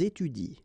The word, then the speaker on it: étudient: so n t, well, you don't pronounce it, so you will get ils étudient.